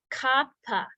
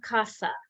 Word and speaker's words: kapha: qualities like Elemental qualities Kappa it is not kapha but you'll hear that in the west a lot people make it into a sound it's not it's Kappa um Kappa um and